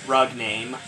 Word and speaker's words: Rugname: Alright, now we are inside the Rugnami. Yeah, that's the name of the mothership, the Rugnami. And everything must die. Or as I should pronounce it, Rugname.